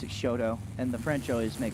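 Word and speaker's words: Chouteau: Braxton Hushes will come up out of Shoto, Oklahoma. Am I saying that one right? Shodo.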